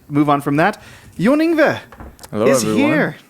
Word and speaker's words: Ingve: Yeah, so I would pronounce my name John Ingve. Okay. But I mean, I get so many variants.